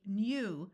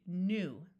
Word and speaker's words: new: So right here, we could say new, but that's hard to say. So we switch to the oo sound. So when you see the syllable, try the long U sound of you first. And if it's difficult to say, switch to the oo. So this would be new.